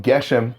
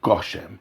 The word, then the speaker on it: גשם: safe passuck or Esnachtah, it changes from Geshem to Gashem, from Gefen to Gofen, and again it's always with a kumatz.